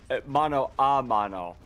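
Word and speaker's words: mano a mano: Well, mono a mono is the correct pronunciation.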